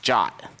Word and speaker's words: JWT: Unlike GWT, which was nicknamed GWT, JWT is actually pronounced JOT.